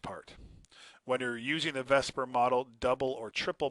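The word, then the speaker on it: VSEPR: the shapes of Mo molecules is called the Vesper model I realized the S is before the e but that's just how the man produces or pronounces it is with Vesper and it stands for the veence shell again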